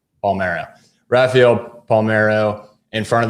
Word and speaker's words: Palmeiro: Give me the correct pronunciation of his Palmeiro. Palmeiro.